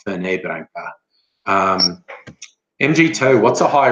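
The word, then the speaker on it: Fernet-Branca: on I think but it's not French I think it's Italian so I think it's fernet branca not for neighboring mg toe what's a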